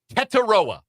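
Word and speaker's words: Tetairoa: Pronunciations. Teteroa.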